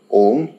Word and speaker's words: Om: come from the word om or ah uma if you break it down physically inside the body anytime you're chanting then you'll realize that all of these three syllables a u and m they have a different